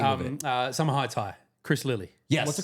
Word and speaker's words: Summer Heights High: Summer Heights High. Summer High Tie. Summer Heights High.